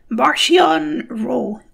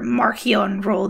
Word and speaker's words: Marchion Ro: all of star wars martian row or marchionne role the pronunciation is inconsistent martian raw is the